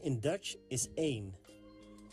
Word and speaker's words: één: 1 in Dutch is één. Één is pronounced like the word main without the M sound at the beginning. Één.